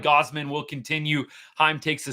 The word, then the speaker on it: Gausman: the comments today bud gosman's been good today or Gosman sorry I got corrected by a couple of Jay's fans